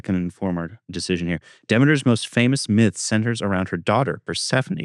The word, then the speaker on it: Demeter: This next one, Demeter, I'm imagining that's how you say it? Yeah, Demeter.